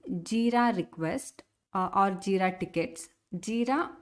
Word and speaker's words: Jira: request or jira tickets jira or jaira like uh this is how the spelling is but uh different themes pronounce it as a different uh ways so you will get